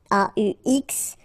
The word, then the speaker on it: aux: then a plus les will become o, aux, but then remember that phonetically it's o.